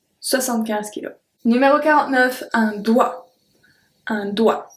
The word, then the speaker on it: doigt: Numéro 49, un doigt. Un doigt. So we don't pronounce the G or T. It's only doigt. D-O-I. That's all we pronounce.